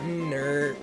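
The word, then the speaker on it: Knurrt: an idea what's that how about nerd silent K Aaron I'm so sorry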